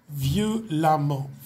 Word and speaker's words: violemment: Et le EM ici se prononce comme dans intelligemment, se prononce comme un A, violemment, violemment. Élégant, ok, élégant se termine par A-N-T, qui va devenir élégamment.